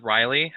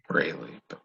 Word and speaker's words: Rayleigh: I believe it's Riley. Is that how you pronounce it? Rayleigh. Rayleigh.